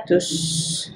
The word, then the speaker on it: tous: Contohnya, jika kita kembali lagi kepada kalimat tous les documents et toutes les lettres, di sini tu-nya tidak dilafalkan huruf S-nya, hanya menjadi tous les documents.